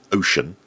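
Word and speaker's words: Wouxun: A Chinese radio manufacturer called Wuxen, or some people pronounce it Ocean, are making a new handheld CB radio.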